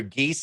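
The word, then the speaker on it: Gies: done by alana i think you'll help me pronounce this man's name correctly arthur geese i believe yeah that's right and he had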